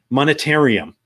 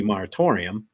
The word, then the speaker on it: moratorium: but he has a one day monetarium supposed to be moratorium yep so he mispronounced the word which you and i